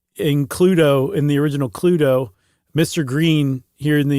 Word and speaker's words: Cluedo: around 1949 yeah uh they named it cluto like you said spelled like clue with doo at the end M um that is